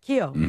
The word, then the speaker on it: Keough: Keough.